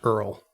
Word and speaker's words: ERL: From, I'm assuming this is pronounced Earl, but it's ERRRLLL.